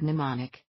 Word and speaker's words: mnemonic: y and z saying greek root is the word mnemonic the m is silent in her bag her